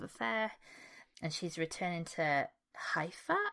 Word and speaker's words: Haifa: She's visiting her sister after getting out of a quite fractious love affair, and she's returning to Haifa, I think is how you pronounce the name of the city, to visit her sister.